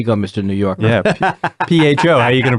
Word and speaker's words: pho: sriracha yeah you see you took such pleasure in pronouncing Fah correctly yeah you loved it yeah you looked over at me gave me a look like there you go mr.